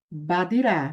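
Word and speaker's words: בַּדִּירָה: Badirá. Perceba que eu pronunciei a preposição com som de A.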